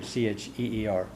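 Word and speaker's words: tír: country so cheer and it's like CH like cheer c h e ER is how it's uh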